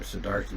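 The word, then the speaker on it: Siddhartha: Would the Buddha pronounce his name Sedata or Sedarta? Well, we don't know. It's the the the simplest answer. I mean that Sedata is the poly form. Sedartha is the Sanskrit.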